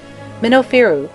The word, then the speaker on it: Minofiru: Minofiru, which is the correct pronunciation and the origin of Memphis, probably signified the good